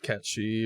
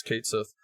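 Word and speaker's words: Cait Sith: That's how you pronounce it in this world. It's not Katchi or anything like that. It's Kate Sith.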